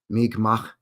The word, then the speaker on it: Mi'kmaq: The problem is not a lot of people can make that soft ha sound at the end, right? Mi'kmaq.